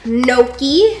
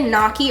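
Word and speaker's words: gnocchi: never say this properly this is pumpkin Noki I always want to say noi or gaki cuz that's how it's spell and the English language is stupid because why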